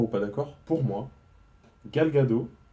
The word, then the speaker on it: Gadot: pas d'accord, pour moi, Gal Gadot, je pense que ça se prononce comme ça, ou Gal Gadot, je crois que le T se prononce pas, je crois que c'est Gal Gadot, pour moi, meilleur que Scarlett Johansson.